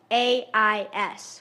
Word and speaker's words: Dorais: Dore, Dorais, with an emphasis on the second syllable.